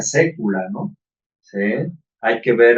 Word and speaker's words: saecula: Por ejemplo, aquí cuando se escribe la palabra saecula, se pronuncia sécula, ¿no?